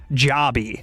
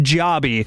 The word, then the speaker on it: Jobi: Jabby is how it's pronounced. It's J O B I, but it's pronounced Jabby.